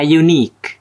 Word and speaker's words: unique: دي بقى الملحوظه اهو لو ال u ده جاي بيتنطق بقول يو ما بقولش أ يبقى ده كده بنتعامل معاه على إنه consonant طب زي إيه؟ عندنا زي a unique a unique shape a